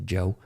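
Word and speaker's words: Djo: It's pronounced Joe. The D is silent.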